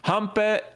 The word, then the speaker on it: Hampe: Hampe, I think you pronounce it Hampe with an A instead of the nine.